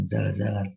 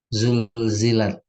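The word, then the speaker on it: زلزلت: Ini bukan zalzalat ini. Zulzilat.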